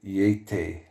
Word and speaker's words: Yeti: unknown primate of Central Asia said to be pronounced Eata meaning an origin not established the one derivation